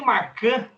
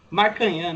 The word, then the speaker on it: Marcanhã: E também o Lucas, eu falei Marcan aqui no primeiro podcast. Como que pronuncia o nome dele, cara? Eu vi que eu estava errado. Marcanhã, né?